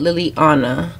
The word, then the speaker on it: Liliana: So that's how you say it, Liliana.